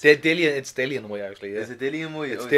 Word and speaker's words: Dillian Whyte: He says it's Dillian Whyte, not Dylan Whyte.